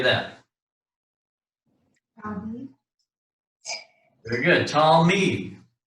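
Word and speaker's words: תלמיד: Talmid. The shiva is a stop underneath the lamed. So we got Talmid. Two-syllable word there, Talmid.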